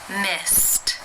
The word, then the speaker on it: missed: Missed, missed. How do you pronounce this word?